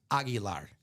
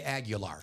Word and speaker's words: Aguilar: My last name is correctly pronounced Aguilar. All my siblings say Aguilar. It's both. We kind of Americanize it.